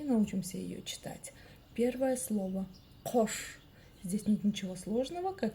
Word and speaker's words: Қош: Но как же прочитать букву К с хвостиком снизу? Очень просто. Нужно просто отхоркнуться через букву К обыкновенную. Пробуем. Улыбаемся и пробуем. Да. Кош. Кош. Кош. Ну а буква О, собственно, читается так же, как и пишется.